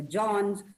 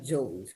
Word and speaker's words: Jones: Remember, it is not Daniel Johns, it's Daniel Jones.